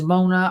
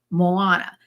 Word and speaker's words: Moana: Everybody, maybe it's Mona. I got to look it up to be honest with you. Moana. And it Moana. It's M-O-A. I know, but I have to see how it's pronounced because I don't really know. Well, and Gracie says it's Moana.